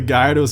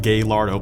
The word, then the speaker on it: Gallardo: Oh, by the way, it's pronounced Gallardo, don't fight me, it's not called Galardo, please stop calling it that.